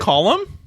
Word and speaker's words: Colm: said on a bond it's pronounced calm no what I think is it column column meaning yeah for real